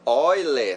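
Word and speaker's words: Euler: suíço o matemático suíço leonardo euller ou o leonardo goy é na fala na pronúncia ele descobriu uma importante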